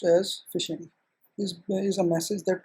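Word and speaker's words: phishing: of programs are basically the zombie program fishing pronounced as fishing this is a message that tries to trick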